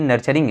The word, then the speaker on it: nurturing: आ रहा होगा सारा चीज़, तो प्लीज़ आपको प्रोनाउंसिएशन भी अपना सही करिए। ये नर्चरिंग है, ठीक है, NURTURING, नर्चरिंग मेडिकोस हमारे चैनल में।